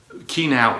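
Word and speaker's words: khi nào: the word i mean you have to lower the sound for that particular word otherwise the the meaning is lost all right key now la you see again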